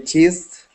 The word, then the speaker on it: kissed: And kissed with a T sound.